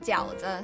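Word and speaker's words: 饺子: Fried gaozi, and in Chinese pronounced called jiaozi.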